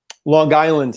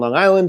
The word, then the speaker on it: Long Island: Long Island. Yeah, we pronounced the G there. The Strong Island, Long Island. Yeah, I had to lose that one for being a performer.